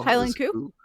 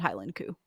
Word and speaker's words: Highland coo: Like the Scottish pronunciation of cow? Highland Coo?